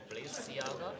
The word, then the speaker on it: Balenciaga: Oh, the pronunciation is Balenciaga.